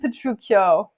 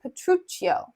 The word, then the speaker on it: Petruccio: a CH sound so if it was p-e-t-r-u-c-i-o it would be petruccio if you have c-h-i-o it is petruccio but here hortensio says petruccio with p-e-t-r-u-c-c-i-o which means that it's actually petruccio but they spell it differently I think probably so that English readers and English speakers are able to understand that it's a CH sound okay so welcome to